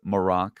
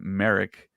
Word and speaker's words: Marrok: We heard his name pronounced by Shin Hati as MARROK, almost like a Moroccan. I think we'd all been saying MARROK the whole entire time,